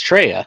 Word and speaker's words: Traya: It's Treya.